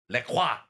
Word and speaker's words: LaCroix: First of all, it is pronounced LaCroix.